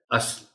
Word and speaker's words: اصل: جو غلط ہے۔ روایتی۔ اصل، اصل کہنے کے ہم لوگ عادی ہیں، درست تلفظ اس لفظ کا ہے اصل۔ کلا، قلعہ بول دیتے